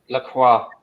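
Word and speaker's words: Lacroix: the guy that was at Wolfsburg remind me laqua laqua that's the one laqua well on Fergus for pronouncing it correctly um apparently he's playing for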